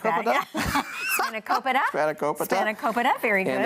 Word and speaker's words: spanakopita: and phyllo, and I'm going to try to pronounce it. Okay. Spanakopita. Something like that. Yeah. Spanakopita.